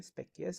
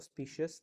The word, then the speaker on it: specious: उसको हम बोलते हैं स्पेकियस और स्पीशियस. दोनों वर्ड्स की प्रोनाउंसिएशन हम यूज कर सकते हैं according to different types of languages.